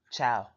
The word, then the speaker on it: ciao: us goodbye in Spanish ciao pronounced ciao like the way some people say like food um in English it